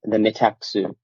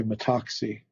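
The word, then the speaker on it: μεταξύ: because we're in the metaxu, as William Desmond says, the in between. I prefer though that you say metaxi. Metaxi, sorry. Yeah, I use a demotic pronunciation if you would.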